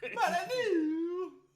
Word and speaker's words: Molyneux: He's Molyneux. You gotta say it in a French way.